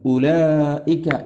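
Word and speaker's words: أولئك: ബാക്കി ബാക്കി ബാക്കി ഹാന്തും ഊലായി എന്ന വാവ് എഴുതിയിട്ടുണ്ട് പക്ഷേ ആ വാവ് ഉച്ചാരണത്തിൽ വരാത്ത വാവാണ് ഊലായിക്ക എന്ന് എഴുതുമ്പോഴും വാവ് ഉണ്ടാകും പക്ഷേ നമ്മൾ ആരും അങ്ങനെ വായിക്കാറില്ലല്ലോ ഉലായിക്ക എന്നല്ലേ വായിക്കാറുള്ളൂ അത് ഖുർആനിന്റെ നേരത്തെ പറഞ്ഞതുപോലെ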